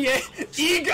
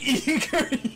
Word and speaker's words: Yeager: Eren Yeager! I said Eager! The worst pronunciation I've ever heard.